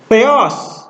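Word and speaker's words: θεός: Ini coba, ini diftong atau bukan? EO itu diftong atau bukan? Bukan ya, ini bukan diftong. Maka dia tidak menggunakan apa? Aksen. Tidak menggunakan aksen circumflex. Dia menggunakan aksen akut ya. Theos. Dibaca gitu ya.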